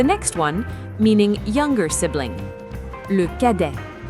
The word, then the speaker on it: cadet: Le cadet. Le cadet. Remember that the T in le cadet is silent.